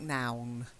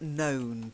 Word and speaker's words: known: - no and no careful it doesn't sound like noun I know you've got grammar on the brain but that can be fatal noun but known - no yes - no and then past participle known try it no that's goods